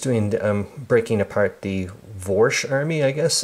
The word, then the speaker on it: Woyrsch: vorsh Army I guess if it would be pronounced German wise if that's the way you do a w I don't know I've been saying warsh for so long though I'm just going to go with warsh I guess so this